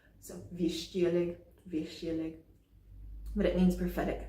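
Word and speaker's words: Вещий: And by the way, there are two sh sounds in Russian, and I cannot pronounce them distinctly. So I'm using the one that is often transliterated like sh. So Vichy Oleg.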